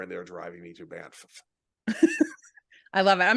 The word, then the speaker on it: Banff: Yeah, I'm flying into Calgary because I've got a thing coming up in Banff, and I say Banff because there's two F's, and I Well, choose to pronounce both of them.